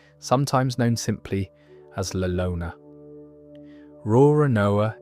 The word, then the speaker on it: Roronoa: Roronoa is basically the Japanese way of pronouncing l'Olonnais, which is why they look nothing alike written down, but sound close enough when you say them out loud.